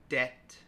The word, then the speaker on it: debt: Climb, debt, doubt.